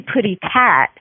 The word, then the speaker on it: Putty Tat: Oh, it's actually Putty Tat. And Putty Tat. Yeah, that's the pronunciation from the cartoon.